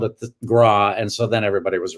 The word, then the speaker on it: Graae: that way in danish yeah no they say grah does anybody say gray everybody i know so i'm introduced i actually changed my name to the pronunciation to gray because of my first agent in new york